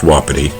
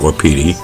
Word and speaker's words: Wapiti: do with wapity and yes it's pronounced wapity not WAP um but this is